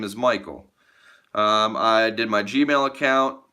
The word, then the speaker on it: Michael: But I was working with a Scandinavian person who said, I didn't know your name was pronounced Michal. And I'm like, it's not, it's Michael.